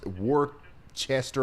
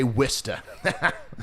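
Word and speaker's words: Worcester: this exactly like war war Chester or War however I said it before um but we're going to say wsta and we're going to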